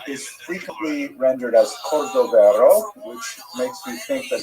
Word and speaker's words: Cordovero: his matzeva, his gravestone, it's Cordoero. It's a Portuguese spelling, but it's kind of a strange thing to pronounce in Hebrew, so it was sort of mangled into Cordovero, and that has become the standard, even though it's probably not correct.